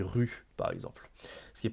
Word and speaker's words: rue: vraiment insisté sur attention on dit pas roux on dit rue par exemple ce qui